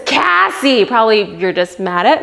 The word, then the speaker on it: Cassey: Phonetically, 2 S's means it's Cassie, not Casey.